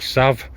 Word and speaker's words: salve: make into uh a salve I think I think in America they just call it a Sav they don't pronounce the L uh so I'm going